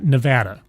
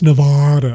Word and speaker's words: Nevada: wrong you're tagged yeah Nevada you go like it's Nevada and it's Nevada so now I know and